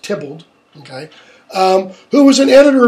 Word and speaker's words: Theobald: spelled theobald th e OB al d it's pronounced templed ok who was an editor of Shakespeare in